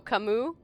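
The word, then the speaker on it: Camus: Oh, camu. It's supposed to be pronounced like I did. So, it sounds the same. At least to my ears.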